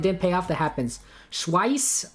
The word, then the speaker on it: Schweiz: Schweiss rhymes with price.